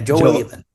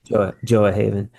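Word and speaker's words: Gjoa Haven: the community this uh jo I want to pronounce it right G g Yeah Joe Haven Joe Haven and it's kind of like it sounds Joah Gj o a haven joah haven uh you how is it living amongst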